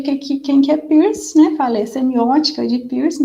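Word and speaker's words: Peirce: a semiótica de piercing algumas pessoas falam também força mas eu vou adotar aqui a pronúncia piercing que que é né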